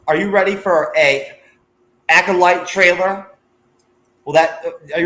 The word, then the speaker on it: acolyte: our the acolyte uh I couldnot pronounce the word correctly for like the first couple like once the show came out I wanted to call it the ulti every time and finally uh like it got through to me that it's actually called the acolyte so thank God that